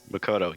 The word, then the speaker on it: Makoto: I think this is Makoto's arc. Helping people. I'd root for him, no questions asked. This is Makoto's arc. What do I want to do? Makoto? Makoto, you had it right.